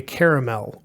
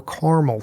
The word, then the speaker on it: caramel: it to c68 E17 which is a caramel or caramel color if you will depending on how you pronounce that I hear it both ways okay now that we've